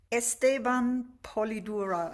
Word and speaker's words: Esteban Polidura: Esteban Polidura. I hope I pronounced your name correctly.